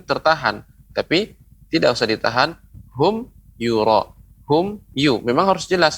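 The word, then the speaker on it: هُمْ يُرَاءُونَ: Hum yura, hum you, memang harus jelas, nggak boleh hum yura. Nah itu tidak boleh, berarti dia memantul humnya. Humnya harus dibaca jelas. Hum yura, hum you, ya, jangan terlalu ada jeda.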